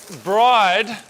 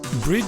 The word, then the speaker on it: BRIDE: Brid Seats, or Bride as they're mostly pronounced in Australia, produces high quality seats